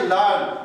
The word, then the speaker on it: learn: देखिए इसको आप लोग पढ़ते हो लर्न, लेकिन इसमें आर साइलेंट है, और इसीलिए हम इसको बोलते हैं लर्न।